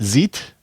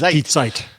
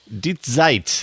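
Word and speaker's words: Zeit: it's it's is it zit zit online dite Z in German you always pronounce the second vowel oh interesting I didn't know that yeah so it's deite deite online it's an interview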